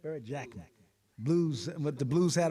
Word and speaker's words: Barrett Jackman: Barrett Jackman. Blues, with the Blues hat on, I'm getting his name wrong.